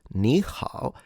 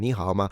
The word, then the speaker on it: 你好: The super famous 你好. Do pronounce the H, by the way. Don't make the beginner's mistake you get laughed after at.